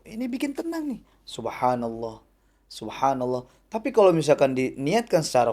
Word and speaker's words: Subhanallah: Subhanallah. Pengucapannya benar.